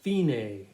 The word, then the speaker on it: fine: there where it says, looks like fine, but it's actually pronounced fine to us music people who took a lot of words from the Italian language.